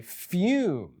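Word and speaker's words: Fūm: fume right and that's f uh uh umlaut over the U and pronounced fume and what fume is is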